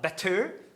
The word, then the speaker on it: better: Better. Better. Pode ser falado better, sim, porque a tônica é a primeira sílaba. B, você não fala better, mas sim better. Better, por isso pode ser better com tap.